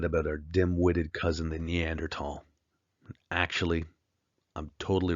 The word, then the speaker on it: Neanderthal: so we say the Neanderthal H is silent but we continue to use it in science either way let's take a look